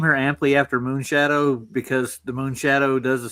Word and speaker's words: Mooneschadowe: No, actually, it's spelled in Old English. MOONESCHADOWE. Moonshadow. Different.